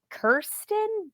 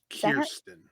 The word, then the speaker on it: Kirsten: uh Kirsten Dunst Kirsten Kirsten I knew I was and the only reason I say that is because she recently said no one ever pronounces my name right. It's Kirsten.